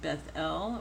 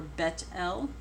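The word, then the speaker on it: Bethel: I think say bezel part of the reason why I go ahead with beth-el or bet L is because it means house of God whenever you see Beth or it would be pronounced bet be ETH it means house and so L is God house of God or house of the Lord okay and we've got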